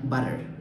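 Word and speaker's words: butter: আবার টি যদি ওয়ার্ডের মাঝখানে প্রনাউন্স হয়, এটার উচ্চারণ হয় soft D, like teeth and বাটার।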